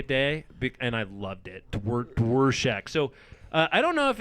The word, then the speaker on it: Dworshak: Dworshak Hefe. Dworshak Hefe.